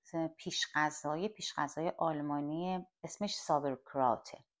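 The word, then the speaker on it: Sauerkraut: پیش غذای آلمانیه اسمش سابرکراته البته آلمانیا به زابکرات به تلفظ خودشون میگن میگن میگن کلمه‌های خورد شدمونو می‌ریزیم داخل کاسه و یه مقدار نمک روش می‌پاچیم.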